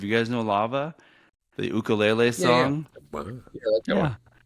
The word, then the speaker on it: ukulele: Wait, do you pronounce it ukulele or ukulele?